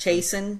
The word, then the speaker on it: Chasen: Chasen, yeah, like Jason with a CH.